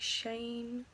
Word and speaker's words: Shein: my I think you I think it's like shame because it's sh TI n so I think that's how you say it but yeah that